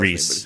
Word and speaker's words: Rhys: And it's like, but it's like weird, but funny, and Matthew Rhys, I think I don't know how to say his last Reese.